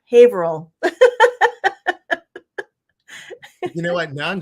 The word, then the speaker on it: Haverhill: The H is silent. The second H is silent. Haverhill.